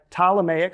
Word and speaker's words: Ptolemaic: So this is where we get the Ptolemaic empires, spelled with a P, right? P-T-O-L, right? Ptolemaic. So if you saw that in your reading, that's what we're talking about right here.